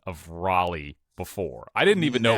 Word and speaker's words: Raleigh: You mean Raleigh? Raleia. Okay, close enough. That's how you say it. How you say it again? Raleigh. You for real? But it's spelled R A L E I G H.